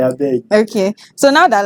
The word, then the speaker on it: Abeg: You hear me keep saying begging is It's because it rhymes with the name, right? Abeg.